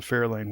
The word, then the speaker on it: Fair Lane: But I'm pretty sure that the Fairlane was named after Fair Lane. And you'll notice my different inflection. I'm accenting a different syllable as I say Fair Lane.